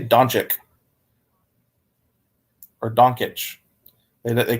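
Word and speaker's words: Dončić: really good chance yeah people keep saying don't check or yeah they they cannot get donch it's right Luka doncic not it's really not that hard as a Dallas fan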